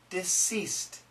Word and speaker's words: deceased: diseased diseased diseased however when we make the S sound the S sound deceased deceased will make the S sound there's no vibration deceased and there's no vibration